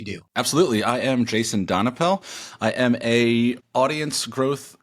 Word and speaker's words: Donapel: Donapel. Donapel.